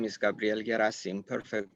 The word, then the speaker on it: Gherasim: cantes um so again my name is Gabrielle gasim perfect pronunciation of the last name by the way